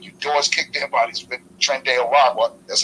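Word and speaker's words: Tren de Aragua: glad you getting your doors kicked in by Tren araga that's how you pronounce it Professor Tren de araga no I'm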